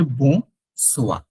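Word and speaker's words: bonsoir: আপনাকে তখন বলতে হবে বো সোয়া। ওয়াই থাকলে ওয়া, বো সোয়া। বো সোয়া মানে হচ্ছে গুড ইভিনিং। বো সোয়া, গুড ইভিনিং, বো সোয়া। বনজু, স্যালু, বো সোয়া, বো সোয়া।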